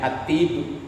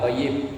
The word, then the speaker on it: At-Tib: Terus ya kan ya-nya satu kan? Berarti bacanya At-Tib bukan Toyib, Tib.